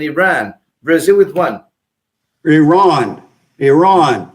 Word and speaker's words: Iran: with one Iran Iran you need to learn how to pronounce that word correctly let me say Iran yeah Iran it's not Iran it's not Iran Iran so sorry for that yeah sorry no no you're a journalist you love English so do I I'm trying to help you out you've helped me out tremendously thank you very much thank you very much I'm trying the proper way to pronounce Iran Iran and the other country